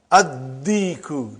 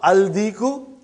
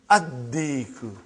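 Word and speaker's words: الديك: And when you will pronounce them with Alif Lam, you will not pronounce Lam. Okay, look at this, brother. Come to number 3 and go down. Huh? Come to number 3 and go down. Addiku, not Aldiku.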